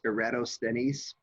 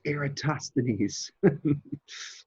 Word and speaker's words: Eratosthenes: copy that you know I used to pronounce this eratos stenis um and one year I had a student who had who had studied Latin in the Boston Latin School and she took me aside after class one day and she went it's aatosan so I've always made